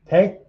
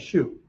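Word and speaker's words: 手: Te, karate, right? Just other pronunciation for te is shu.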